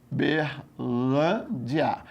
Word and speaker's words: Uberlândia: Querido, em se tratando de acentuação gráfica, procure a posição da sílaba tônica. Saber se é oxítona, paroxítona ou proparoxítona. É a banca do CESP. Aí eu tenho aqui, ó, Uberlândia. Aí você fala Uberlândia. Então é o quê? Paroxítona.